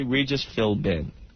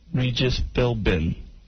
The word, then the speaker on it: Philbin: because of me but just like many other names and many words in the English language the B is silent B is silent but